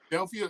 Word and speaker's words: Adelphia: Adelphia.